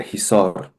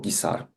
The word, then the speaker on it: Hisar: In the north, the Zarafshan mountain range, and in the south, the Hisar or Gisar in the Russified pronunciation mountain range.